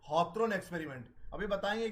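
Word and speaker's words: Hawthorne: हॉथरन experiment के साथ ये स्टार्ट होती है। हॉथरन की स्पेलिंग ये है, ये हिंदी और इंग्लिश में ये हॉथरन ही पढ़ेंगे इसको, HOWTHRONE।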